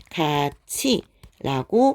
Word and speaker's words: 같이: 자, 가티라고 발음하게 될 것이고 티읕과 이 모음이 만났기 때문에 가치라고 발음을 하게 됩니다.